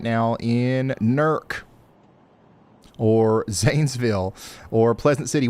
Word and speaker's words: Newark: Nerk, you said it right.